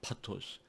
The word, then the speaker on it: pathos: 파토스. PATHOS죠. 그 영어로 읽으면 이제 페이소스라고 읽게 되는데, 페이소스가 바로 파토스입니다.